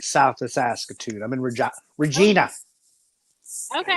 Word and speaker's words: Regina: I'm in Regina. Okay. Regina.